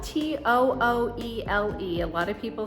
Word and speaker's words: Tooele: This subdivision that they're building is located in Tooele. So it's called Tooele. It's spelled T-O-O-E-L-E. A lot of people say Tooele, but it's not Tooele, it's Tooele, Utah.